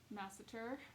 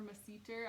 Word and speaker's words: masseter: when you find that muscle masseter or macedo i've heard it pronounced both ways um you're just gonna